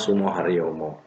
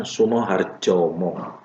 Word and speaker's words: Sumoharyomo: Jadi bacanya Sumoharyomo. Tapi kalau ditulis dengan ejaan yang lama, itu kan menggunakan huruf DJ. Jadi penyiar televisi waktu itu salah mengucapkan Sumoharjomo. Padahal harusnya pengucapan itu Sumoharyomo, tapi diucapkan Sumoharjomo. Ini hanya gara-gara menggunakan ejaan lama, gitu ya.